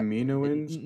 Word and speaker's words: Kaminoans: But the Kaminoans were very, very interlocked with everything that was going on during this period. So they're from Kamino. How do you say it? Is it Kaminoans? It's Kaminoans. Kaminoans.